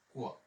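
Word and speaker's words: quoi: ইউ সবসময় উচ্চারণ হচ্ছে ক, ও ই এর উচ্চারণ হচ্ছে ওয়া, তাহলে আমাদের হয়ে গেল হচ্ছে কোয়া।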